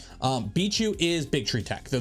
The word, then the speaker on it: BIQU: v6ish nozzle uh we got a thumb drive beat you for those that don't know beat you b i q u apparently it's pronounced bichu bichu is Big Tree Tech they're the same company